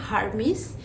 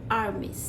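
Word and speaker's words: Hermès: এটা অনেকেই বলে থাকেন হারমিস কিন্তু না এটার উচ্চারণটা হবে আর্মিস এটাও একটা ফ্রেঞ্চ ব্র্যান্ড নেক্সট যে ব্র্যান্ডের নাম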